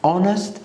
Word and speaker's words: honest: Tsunami, so T is silent, and honest, H is silent, psychology, and P is silent.